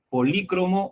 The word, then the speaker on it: polícromo: ¿Polícromo o policromo? La forma correcta de expresar este término es polícromo o policromo. Las dos formas son válidas, ¿no?